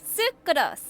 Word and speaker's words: Sucrose: stuck with your research ah that that's how you say her name sucos I see so sucros